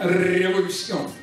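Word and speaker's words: revolución: А, как вы знаете, в испанском языке переднеязычный звук «р». Причем он более раскатистый, чем в русском языке. Они произносят именно «революцион».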